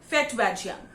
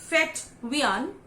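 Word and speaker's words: Fetvajian: It's actually Fetwian. We don't say the J, but there are different pronunciations in different countries. There, just like, in mojito, we say mojito. It's the same way. So it's Fetwian.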